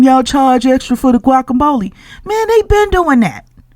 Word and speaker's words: guacamole: that uh gule what What's gule when it's guacamole mhm asking stuff like uh what's a a quidilla when it's pronounced quesadilla or a tortilla when it's a tortilla mhm and see here's